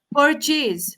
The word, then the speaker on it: purchase: Purchase, so you have to say per, the r has to be pronounced in your pronunciation, okay, so that is how you have to say.